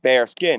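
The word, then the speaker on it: Baerskin: Now bare skin is spelled B A E A R S K I N but it's pronounced bare skin.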